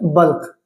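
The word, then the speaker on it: bulk: बल्क ये बक नहीं है।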